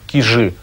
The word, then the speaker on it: Кижи: Ансамбль Кижского погоста на острове Кижи, иногда произносят Кижи, в Карелии, объявляется государственным историко-архитектурным заповедником.